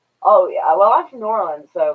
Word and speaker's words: New Orleans: I actually do pronounce it New Orleans or New Orleans because it's from Orleans in France, so it's New Orleans. But people down there will say Nolans.